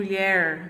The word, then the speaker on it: mulher: E da mesma forma que a palavra mulher, né? Eu tenho mulher, né, que é a minha sílaba tônica, está na última posição, classificada como oxítona.